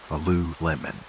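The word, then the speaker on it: Alulim: The first among them, the one whose name begins this extraordinary lineage was Alulum. Say his name softly, letting the syllables drifty. Aloo Lemon.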